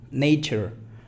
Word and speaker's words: nature: Hay una T y una sh. Ese que es gigante es el sonido sh, como cuando decimos a alguien que se calle. Sh. Nature, fíjate, nature. Prueba lo siguiente, prueba a